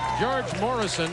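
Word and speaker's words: Gheorghe Mureșan: George Morrison, I understand, is how he pronounces his name, from Romania, played in France this year.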